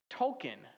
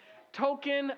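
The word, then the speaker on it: Tolkien: JR Tolken. Tolken. Like uh what you get at Chuck-e-Cheese, right? Token. Tolken.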